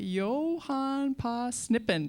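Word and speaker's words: Johan på Snippen: it's called uh the Johnson shis and the Yohan P snippen did I pronounce that right that's right all right let's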